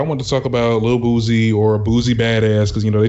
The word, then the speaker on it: Boosie: You got to say his name right. You saying Boosie? It's Boosie. Just like you would say, it's not like Boosie, Lil Boosie, right? Okay, so it's not a Z.